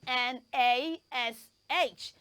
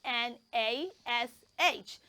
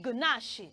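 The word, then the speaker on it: gnash: yes it has a silent G so it means that we're not going to say the sound G or J in that word let me spell it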